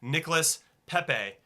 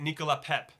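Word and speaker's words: Nicolas Pépé: pronounce his name correctly it's spelled from an American side of the how we would say it is Nicholas Pepe but I think you say it Nicola pep and he plays for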